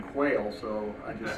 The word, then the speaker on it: Quehl: As Dick said, proper pronunciation is Quail.